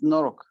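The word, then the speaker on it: noroc: It's Norok.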